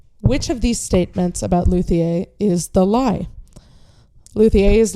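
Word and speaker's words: luthier: All right, our last game is Luier or Luier if you don't want to pronounce it all Frenchlike.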